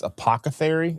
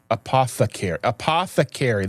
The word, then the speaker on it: apothecary: Apocthery. It's not that apocary. Apocare. I don't know. Apocary. Apothecary.